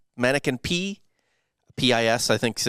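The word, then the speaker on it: Manneken Pis: Yes, it's called the mannequin piss, mannequin P, P-I-S, I think. So it's French, so you don't really pronounce the S on that.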